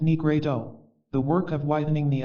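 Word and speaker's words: nigredo: the work of blackening the nigru pronounced negredo the work of widening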